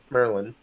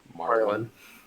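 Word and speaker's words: Marlon: onto their ship through Merlin, and dang it, Marlin? Marlin. You keep saying it wrong.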